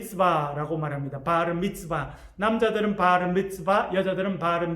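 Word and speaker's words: Bar Mitzvah: 만으로 13살 이 되면 성년식을 하게 됩니다 예슬 발음 b 쓰바 라고 말합니다 바르 미츠바 남자들은 바르 미츠바 여자들은 바른 빛이 빼라고 냥이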